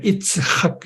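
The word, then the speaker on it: יִצְחָק: 아이작 뉴턴, 이삭 펄만 그 바이올린 이삭 펄만은 그대로 그 히브리어 발음을 그냥 살리가 이츠학 이렇게 되는데요.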